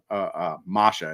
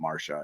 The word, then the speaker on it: Masha: And Phee was left kind of speechless, just saying, "I like Masha, excuse me, not Marsha. It's her nickname is pronounced like how Boston people pronounce Marsha."